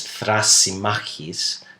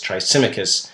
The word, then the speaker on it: Thrasymachus: I'm going to skip over that because really the discussion becomes interesting when this particular fellow, Thrasymachus, or the Greek pronunciation is Thrasymachus, but the English tongue says Thrasymachus, he barges into the conversation.